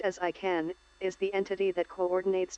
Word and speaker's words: ICANN: The Internet Corporation for Assigned Names and Numbers, or pronounced as ICANN, is the entity that coordinates domains and IP addresses for the Internet.